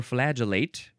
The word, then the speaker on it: flagellate: second form this one you would pronounce uh flaget or flagellate either one or FL gell it um this one is